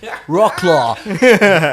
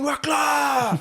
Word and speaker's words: Wrocław: It's Wroclaw. good evening. Yeah, that was Apocalyptica. These Finnish guys. Good evening, Wroclaw.